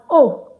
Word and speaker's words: aux: But aux is still pronounced as o before a consonant.